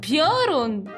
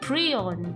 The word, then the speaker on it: Piorun: It's puron. It doesn't even have R in front of the I. Why is it pion? Why you guys say that? Is that how you guys pronounce it? Really? Pion. But yeah, the translation is good. It's a thunder boil. But it's puron, not a pion.